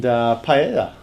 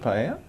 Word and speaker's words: paella: Well, a lot of people pronounce the L's that are spelt in the word, but that's more, I guess, English. It's a very westernized sort of pronunciation of it.